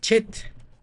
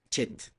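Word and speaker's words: חֵית: Entonces, más bien el sonido es como si pronunciáramos esa CH de Bach, ¿no? Ese es el sonido parecido al que tiene la letra Chet.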